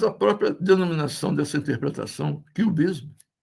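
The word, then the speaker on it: QBism: Mas a própria denominação dessa interpretação, cubismo, em inglês, a pronúncia é exatamente a mesma do cubismo, do Pablo Picasso, do Juan Gris, George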